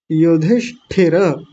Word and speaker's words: युधिष्ठिर: पहले युधि को अलग कर लीजिए। युधि और इसी में यह मूर्धन्य श भी जुड़ा हुआ है। ये श षटकोण वाला युधिष्ठ अब इतना कर लीजिए युधिष्ठ ये आधा है तो मैंने इसके नीचे हलंत लगा दिया युधिष्ठ और ठिह या ठिर युधिष्ठिर युधिष्ठिर और हमारे में विसर्ग भी